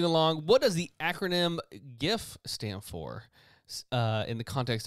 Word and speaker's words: GIF: Which is why it's a hard G and not a soft G. It's GIF. Not GIF. It's GIF.